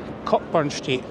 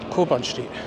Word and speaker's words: Cockburn Street: the wrong thing yes I've always pronounced it cockburn street because it's spelled burn yes C bun street but it is cobn street so the next place